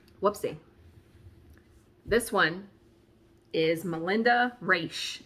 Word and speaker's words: Raisch: This one is Melinda Raisch. And I guess it's Raisch. It's R-A-I-S-C-H. We're going to go with that.